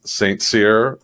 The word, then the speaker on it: St Cyr: this industry but we have Jay Brer from St seir is that I pronounce that correctly PS yep you got it